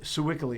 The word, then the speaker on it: Sewickley: We don't say Sewickley, do we? Right? It's not Sewickley? You hear it on Sewickley. We say Sewickley. Sewickley. That's how we say it.